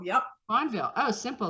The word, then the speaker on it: Fonvielle: the next level today my guest is um I have someone from France fonvio yeah is that right fondville yep fondville oh simple like the E like mine is